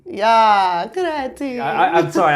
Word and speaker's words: Alicia Creti: Like Alicia Creti. Yeah, Creti. I'm sorry. I really wanted to roll my R, but I didn't want to be patronizing.